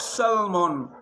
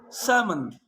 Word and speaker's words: salmon: Could, could, should, should, talk, oak, yoke, half, calf, salmon, not salmon, salmon.